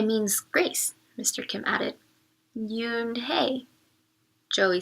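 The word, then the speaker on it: Unhei: Kim then turned to Joey she nodded slowly it's pronounced you name it means grace mr. Kim added you and hey Joey says slowly this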